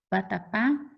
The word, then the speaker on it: vatapá: Vatapá é a última sílaba mais forte.